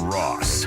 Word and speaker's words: Ross: It's Ross. All right. Spelled like sauce. It's Ross.